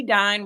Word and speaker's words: Dine: My name is Dine, rhymes with Divine.